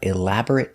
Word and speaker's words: elaborate: They put up elaborate decorations for Christmas. So remember, when you see this word, look closer. Sometimes it's pronounced elaborate, like a verb, and sometimes it's pronounced elaborate for an adjective.